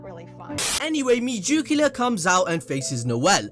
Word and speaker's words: Megicula: How do I pronounce it? It's Megicula.